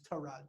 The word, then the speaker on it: Tyrod: because i don't think tyred taylor is a competent starting nfl quarterback and i guess his name is tarad taylor you got to say it right to be respectful but i think that